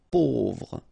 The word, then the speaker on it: pauvre: A, U together will produce this O sound. Pauvre.